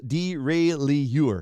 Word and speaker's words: derailleur: Paul says derailleur. Yeah, see, I pronounced it right.